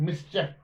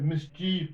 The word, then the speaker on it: mischief: Otherwise, people now generally they just pronounce the word as mischief, which is wrong. It's mischief, right?